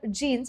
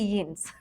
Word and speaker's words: Jeans: Okay, now this word jeans has been taken from English, so we retain the same pronunciation. We don't say jeans. We say jeans.